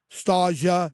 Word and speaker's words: Stargell: Dom Stargell, am I pronouncing that? Starja.